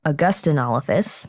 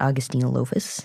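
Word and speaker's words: Augustynolophus: also that's where we learned how to correctly pronounce the California State dinosaur it's a Gustin all of us not Austin Lewis so we will try our best to remember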